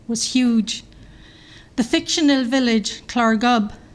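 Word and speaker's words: Llareggub: huge the fictional Village clarb this is pronounced with a Welsh accent in under milk wood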